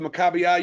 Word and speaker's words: Maccabiah: was it was actually gave themselves called the Maccabiah you're saying it right okay and if everyone